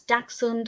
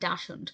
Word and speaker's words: Dachshund: I just want to say very quickly, after watching this film, I googled how to correctly pronounce Dachshund or Dachshund, because I grew up calling it Dachshund.